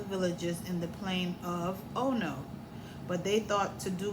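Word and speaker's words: Ono: in the plane of oh no." But they thought to do me harm. So notice oh no is spelled o n o, but I say o h n o. Like oh no.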